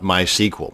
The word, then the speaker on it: MySQL: And yes, it's pronounced MySQL, not MySQL. So the next time you're